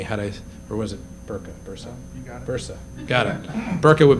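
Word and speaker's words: Börse: have corrected me had i or was it bursa bursa got it burka would be something different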